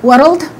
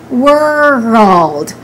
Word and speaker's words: world: So we don't say we don't combine them. We don't say world. We say world. World.